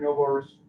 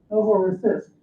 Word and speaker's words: Novorossiysk: Despite strong showings in recapturing Novorossiysk, I can't pronounce this one. Anyway, what is it? Novorossiysk. Novorossiysk, thank you.